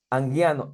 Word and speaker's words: Anguiano: Anguiano, ¿está bien pronunciado tu apellido, maestro? Sí, correcto.